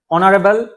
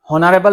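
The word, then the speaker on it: honourable: is done অনারেবল ম্যান অনারেবল হনারেবল না হয় কি অনারেবল ইয়াতে এই কি হয় এ সাউন্ড সাইলেন্ট আছে এই কারণেসার কি হইছে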